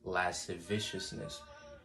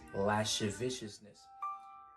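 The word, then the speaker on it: lasciviousness: the the works of the flesh here is last viciousness it is the king james turns its old english so you won't hear it in our present english it is spelled l-a-s-c-i-v-i-o-u-s-n-e-s-s lash viciousness and it means unbridled lust viciousness unbridled lust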